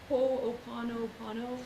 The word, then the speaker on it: Ho'oponopono: Ho'oponopono.